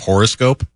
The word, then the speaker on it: horoscope: as a person mhm did you hear toala how he emphasized the first syllable of horoscope yeah I did I